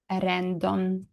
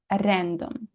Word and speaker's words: rendom: And finally, Rendom. You can hear by my pronunciation that it's not exactly like in English, not random, not this silent r, but Serbian r, Rendom.